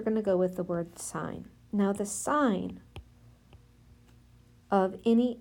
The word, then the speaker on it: sine: X and this is abbreviated just si n so that sign it's and still pronounced that way the sine of any